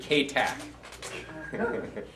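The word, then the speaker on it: katuk: But if you go to Echo, just ask them for kuk. Or here in the south, sometimes they pronounce it kac.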